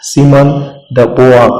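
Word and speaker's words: Simone de Beauvoir: द writing of सिमन डी बोआर, इसका भी pronunciation तो बहुत ही अलग है, कहीं पे सिमन द बोआ आप ऐसा सुन सकते हो अगर आप जाके ऑनलाइन चेक करोगे।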